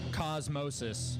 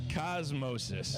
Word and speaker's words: Cosmosis: Cosmosis. Cosmosis. Yeah, like okay. osmosis, but with a lot of drugs.